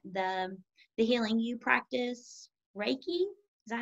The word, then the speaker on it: Reiki: spiritual side and the the healing you practice reiki is that how it's pronounced yes breaking awesome what is that exactly